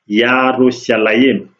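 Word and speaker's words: ירושלים: As is spelled in Hebrew, in Abrahamic, it is pronounced Yarushalayim.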